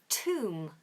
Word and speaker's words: tomb: similar to the word Tom which is t m b both of them you don't pronounce the b so both of them contain a silent B don't ask me why